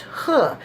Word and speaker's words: He: name correctly it's spelled H e it is pronounced huh his name is Leo huh everybody practice that